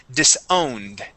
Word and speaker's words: disowned: okay no worries okay the word is disowned with d with a a d ending yes so if it ends in an N okay if it ends in an N the uh the Ed okay equals a d sound we go straight to that D disowned okay it's a it's